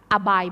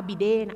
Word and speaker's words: abide: นะ อะ ข้อ 2 อ่าน ว่า aby by อย่า อ่าน ว่า abid abide by aby by